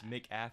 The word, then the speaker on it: McAfee: McAfee, like the McCafe.